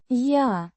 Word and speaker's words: Я: Я решаю. Я. A personal pronoun meaning I, pronounced.